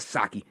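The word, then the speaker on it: Psaki: jen purcerco back but saki silent p of course it'll just be sleepy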